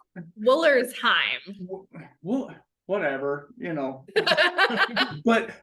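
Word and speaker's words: Wollersheim: Foolery, and I can't, Woolenshire. Is that how you say it? Woolenshire? I say it wrong. Woolersheim.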